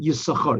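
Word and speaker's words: יששכר: Okay, there's a question why it always says Yisachar, because you don't pronounce it. Sometimes some people do Yisachar, but usually it's only pronounced Yis.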